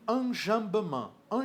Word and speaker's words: enjambement: que que é um anj an jamb é quando você tem ó se vocês quiserem saber como é que se escreve escreve-se enjambement tá e a a pronúncia é anjan o anjan é quando